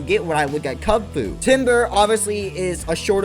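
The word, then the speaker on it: Kubfu: you could tell that they were fighting types Cub Food and that's how you say his name I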